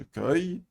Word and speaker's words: cueille: Je cueille, qui se prononce œil.